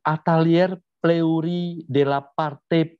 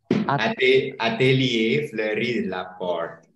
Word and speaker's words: Atelier Fleury de la Porte: Betul ya Mas Didi ya pengucapannya ya? Betul ya? Apa salah? Agak sedikit betul. Terus yang betul apa ini? Yang betul apa? Mungkin bisa disampaikan. Atelier Fleury de la Porte. Berarti banyak salahnya.